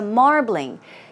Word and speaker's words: marbling: steaks meat right so marbling keep in mind it's two syllables it's not marbling its marbling marbling once again marbling